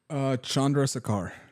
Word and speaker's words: Chandrasekhar: But pronounce this guy's name from Super Troopers. Chandrasekhar.